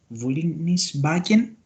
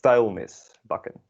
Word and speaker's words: vuilnisbakken: En ik zal ook even de voelingsnis bakken. Sorry, I don't know how to pronounce that, sorry. Yeah. It's vuilnisbakken.